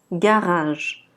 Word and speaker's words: garage: Remarquez que le premier G, c'est G, et le deuxième, c'est je. Donc garage.